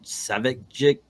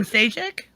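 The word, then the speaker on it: Šejić: with those uh i i keep saying his name wrong but those seven ceviche covers so even sagic thank you other people could say it i cannot he's one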